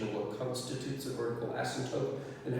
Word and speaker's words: asymptote: what constitutes a vertical asymptote and how we locate them, but I just want to quickly show you what they look like. A vertical asymptote, there's a P in there that's hard to pronounce, is an imaginary vertical